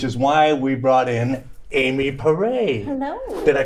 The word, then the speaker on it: Amy Porray: I'm just a regular old guy, so I don't know half of this stuff, which is why we brought in Amy Porray. Hello. Did I pronounce that properly?